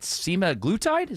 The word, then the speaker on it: semaglutide: A recent study from Denmark suggests that semaglutide, am I saying it right there?